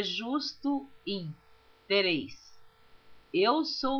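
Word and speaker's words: him: Tem pessoas que lê esta palavra in, que é H-I-M, pronuncia rim, como se estivesse falando em inglês. Eu pronuncio in porque a Bíblia, eu estou lendo toda ela em português. Por que ler esta palavra em inglês? Então, eu leio como está escrito.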